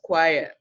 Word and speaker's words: choir: inquire in the word the letters you have is ch oh I are boy it is pronounced as choir more examples you have